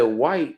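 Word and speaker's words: wight: but the word white was spelled w-i-g-h-t right like light and fright you know they don't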